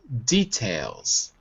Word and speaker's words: details: It's details. Details. Right. Because I think what happened was when you read it, you said you said there are detail. There there. You put the stress in the wrong syllable.